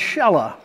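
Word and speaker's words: Shelah: his name was shella I know a person named Sheila but they pronounce this shella here he's a young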